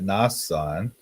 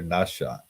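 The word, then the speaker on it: Nahshon: And then Aminadab begat Nasan. That's this pronounced here Nashon. But here it's Nasan.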